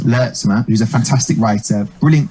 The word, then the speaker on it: Lertsema: Nat Lertsema, or as she asked every MC to pronounce it, Lertsema, who's a fantastic writer, brilliant comic as well.